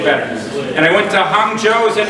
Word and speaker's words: Hangzhou: And I went to Hangzhou, is that how you say it? Yeah. Hangzhou.